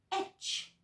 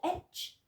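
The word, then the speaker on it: Ech: So the horse is pronounced etch in Druidic. E-C-H, et or etch.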